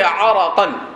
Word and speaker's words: عرق: کیا کیا پڑھتا ہے، لیکن اس کا صحیح ضبط اور صحیح تلفظ جو ہے وہ ہے عرقًا۔ عرق کہتے ہیں پسینے